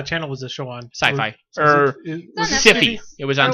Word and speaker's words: Syfy: the phrase sci-fi but you can copyright or trademark the phrase Syfy and just pronounce it sci-fi so I think that's